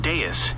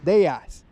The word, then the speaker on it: Deus: you pronounce that aerody deas is pronounced as Arrow like the word air de like the word day followed by us so guys we got the arrow de right here finally learn how to pronounce that according to Google is they ass like they and then us they ass uh probably killing it